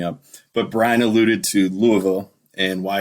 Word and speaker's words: Louisville: and uh we've already made some friends in Louisville our podcast has and yes I'm saying it wrong I know it's Louisville not Louisville I'm aware I'm from Michigan I